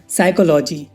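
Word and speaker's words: psychology: For example guys, साइकोलॉजी। और इसमें देखो गाइस, एच से पहले पी है तो पी साइलेंट है, इसे पी साइकोलॉजी नहीं पढ़ेंगे, साइकोलॉजी पढ़ेंगे, इसकी हिंदी होगी मनोविज्ञान।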